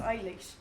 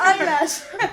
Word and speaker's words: Eilish: It's pronounced Eilish. That's Eilish. Eilish. I said her. It's eyelash.